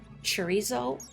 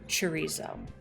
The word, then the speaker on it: chorizo: It's specifically dads, specifically like middle-aged white dads can't say chorizo. I would always get, can I get the chorizo? Can I get a chorizo? Chorizo? Like they would add extra syllables.